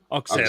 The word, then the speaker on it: Auxerre: We signed the slag from Auxerre, is that how you pronounce them? In the French Auxerre, that's it.